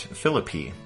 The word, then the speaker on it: Philippi: about that I guess in West Virginia or Western Virginia they pronounced that philippy uh but anyway uh